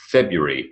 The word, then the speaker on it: February: The answers: Wednesday, silent D; February, silent R.